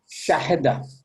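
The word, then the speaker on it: شَهِدَ: Give me the haraka on this. Fatah. Shahida. Sheen is what haraka? She is Fatah. Fatha. What about Ha? Kasra. Kasra. Kasra. What about Dal? Fatah. So how do you say it now?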